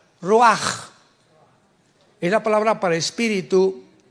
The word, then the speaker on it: ruach: Apunta la palabra espíritu en el hebreo, es como suena, ruach. R Raúl, U-A-C-H. Pero la CH en el hebreo se pronuncia como J, ruach.